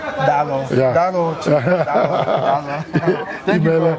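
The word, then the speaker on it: Daalụ: Dalo. Dalo.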